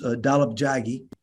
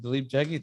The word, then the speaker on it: Dalip Jaggi: And so let me introduce Dalip Jaggi. And I did say that right? You said it right. Yeah. Dalip Jaggi.